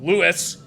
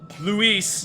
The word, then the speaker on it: Luis: Luis now and Matt Lewis because that's not how you pronounce Luis in Spanish maybe Luis maybe they'll actually use